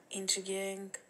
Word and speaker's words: intriguing: It is accurate, intriguing, and brilliant. And without... Good. Just watch out for that word intriguing. So we put the stress on the second syllable. Intriguing, like that.